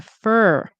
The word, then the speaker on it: for: This for example, it can be pronounced as for like the number four. However, in connected speech, you will often see that it turns into fur. Rhymes with her, like her and his.